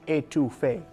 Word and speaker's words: étouffée: in New Orleans and I don't want to say it wrong because I normally say New Orleans and I've just gotten over saying that but crawfish etouffee is crawfish étouffée perfect let's get started heat